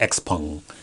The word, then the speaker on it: XPeng: comparing tesla to neo to x-pung or shogun or however y'all pronouncing it i'm say x pun because i've heard 15 different you know ways to pronounce this the stock but um